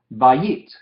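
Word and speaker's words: בַּיִת: Normalmente dividiríamos esto en 2 sílabas. La primera, ba, sílaba abierta, y yit, sílaba cerrada. Pero en este caso vemos que es diptongo, patah, yod, hirek, entonces es una sílaba nomás, bayit, bayit.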